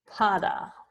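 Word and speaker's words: pāda: We'll do pada. And that's a long A at the beginning.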